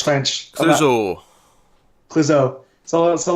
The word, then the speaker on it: Clouzot: Clouzot, however you pronounce it. It's French. Clouzot.